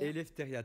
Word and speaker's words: Eleftheria: à rien non non ça se prononce et l'hystérie eleftheria très bien s'en prennent